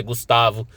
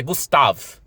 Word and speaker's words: Gustave: Eu sei que tem gente que pronuncia Gustavo, Gustave, mas é Gustave.